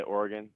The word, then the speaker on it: Oregon: heard oregon i mean what what is the pronunciation here uh yeah i say oregon uh all right living here my whole life